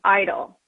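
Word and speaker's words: EIDL: economic injury disaster loan the acronym we're pronouncing idle the purpose of the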